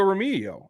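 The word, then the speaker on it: Remigio: give props to Nico romigo and I I know folks I'm working on the name I know it's pronounced as an H not a g it's just getting my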